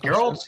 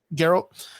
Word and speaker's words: Geralt: And Geralt's like 74 or something like that.